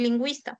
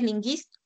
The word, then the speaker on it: lingüista: Lo que pasa es que la diéresis aparece para decirte que la pronunciación no es ni, sino es wei. Por ejemplo, en lingüista tú escribes con diéresis, ¿no? Para decir lingüista, porque si no aparece diéresis tú dirías linguisto.